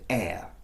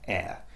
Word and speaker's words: heir: But all of those words, you notice the letter H is unvoiced, it is silent.